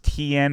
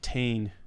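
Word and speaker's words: Tein: Is it pronounced TN or Tane? It's actually pronounced Tane.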